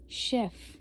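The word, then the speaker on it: chef: आवेक का मतलब होता है with आवेक is with शेफ। शेफ में हम एफ प्रोनाउंस करेंगे क्योंकि लास्ट में हमारा सी यार एफ में से आ रहा है तो एफ है तो हम इसको भी प्रोनाउंस करेंगे।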